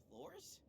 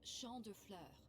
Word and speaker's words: Champ de Fleurs: Champs de floors? How do you say that? It's Champ de Fleurs. Of course, Mitsuru is the one to correct his French pronunciation.